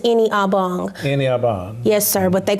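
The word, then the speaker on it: Ini-Obong: mess it up um my first name is pronounced any obong yes sir but they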